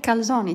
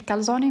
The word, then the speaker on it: كالزوني: وصفتنا اليوم من ايطاليا روما اللي هي كالزوني. تنطق كالزوني ماشي كالزون.